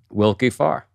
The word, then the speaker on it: Willkie Farr: Wilkie Farr, right?